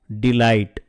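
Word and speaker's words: delight: டிலைட் பாருங்க அந்த ஜி நம்ம சொல்லவே இல்லை மிரட்டு தரட்டன் திரட்டன் உன்னிப்பாக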